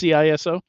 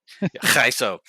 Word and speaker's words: CISO: Yeah, there's a lot of opinions about how to pronounce that. Yeah, they're all wrong. It's CISO. CISO, yes.